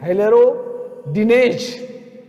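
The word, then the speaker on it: hyaluronidase: हाइलोरोनिडेज HY, इस पर देखिए HYLAURODINASE, हाइलेरोडिनेज।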